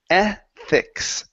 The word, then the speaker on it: ethics: word here is pronounced ethics ethics e eth good make sure to pronounce the or place your tongue between your teeth so it's e ethics